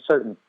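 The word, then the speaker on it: Surtain: I think you say his last name Certain. Because you want to say it Certain, the way it's spelled out, but I heard him say it once, and it sounded like he said certain, like certainly, But anyway, he's going to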